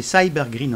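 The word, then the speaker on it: SYBR Green: perméant des membranes comme le cyber green prononcé cyber grereen en anglais et comme ici le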